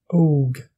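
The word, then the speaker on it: óg: Le O long est prononcé comme le O anglais, comme dans le mot only. Par exemple, pour dire vache en irlandais, vous pouvez dire bow. Jeune, og.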